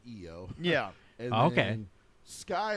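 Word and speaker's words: Iyo: It's a very simple name change, so they added the Y, so people would pronounce it EO.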